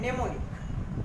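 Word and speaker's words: mnemonic: एन आ रहा है, इसे पढ़ेंगे नेम, नेमिक एंड नेमोनिक। तो इन सारी कंडीशन में एम बिगनिंग में था और एम के तुरंत बाद एन आया, इसलिए एम साइलेंट हो गया।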